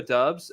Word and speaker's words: Doubs: quickly it's romeo dubs it's pronounced dubs by the way um